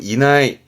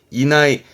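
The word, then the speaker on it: 以内: 이내, 어떠한 범위 이내의 발음은 이나이, 이나이.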